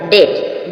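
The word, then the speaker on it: debt: बी से पहले एम होगी जब भी एम साइलेंट रहेगा डेट ट मींस कर्ज इसी प्रकार डाउट डाउट मीन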